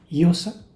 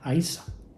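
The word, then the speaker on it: Íosa: Y luego en gaélico se escribe Iosa, pero se pronuncia Aisa, que hacía alusión al Hijo divino, Iu, Io, un aliento que reengancha, ¿no?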